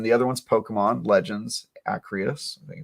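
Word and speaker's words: Arceus: game and then the other one's pokemon legends acrios i think it's how you pronounce it um ign gave it a 7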